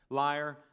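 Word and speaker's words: lyre: the horn flute harp liar and it is pronounced a liar by the way liar and sultry in Symphony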